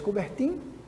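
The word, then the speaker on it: Coubertin: como Barão de cobert escreve-se cobertin mas pronuncia cobert o barão de cobert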